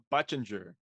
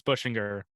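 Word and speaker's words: Buchinger: Cam Allen's teammate, Michael Butchinger. That's how you say his name? Butchinger? I believe it's Bushinger. Bushinger?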